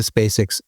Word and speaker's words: Spacek: be this one, Ulrika Spacek's Expo. And you spell that Ulrika, space with a K at the end. Right. So Spacek, like Sissy Spacek.